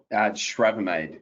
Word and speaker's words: Schravemade: Schravemade. Good morning to you all. Schravemade.